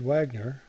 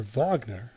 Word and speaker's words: Wagner: and bayy where Richard Wagner or Vagner as it's properly pronounced built his theater and